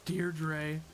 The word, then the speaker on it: Deirdre: My name's Deirdre.